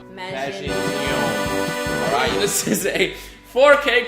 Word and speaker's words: Maginon: Make sure you put the emphasis on that O. Maginon.